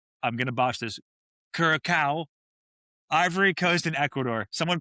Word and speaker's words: Curaçao: Yeah, it's uh Curaçao.